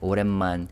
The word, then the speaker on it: 오랜만입니다: But in this phrase, the B sound is not really pronounced, which is why I wrote IM as the romanization, because it sounds like 오랜만입니다.